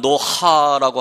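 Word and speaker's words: נח: 나하무라고 하는 나하라고 하는 그 뜻이 위로하다는데, 그래서 노아는 노하라고 하는 원래 발음이 그렇게 됩니다.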